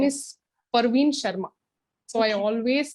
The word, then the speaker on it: Parveen: friend his name is Parveen Sharma so I always call him Praveen Praveen he reminds me saying that hey it is not Praveen it is for me